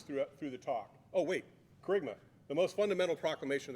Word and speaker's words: Kerygma: I know some of you have been wondering how to pronounce that word that's up there. It's Kerygma.